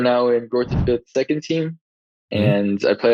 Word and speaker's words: Greuther Fürth: Greuther Fürth, something like that. Yeah, in German it's Greuther Fürth, but when I was in America, I would also say Greuther Fürth.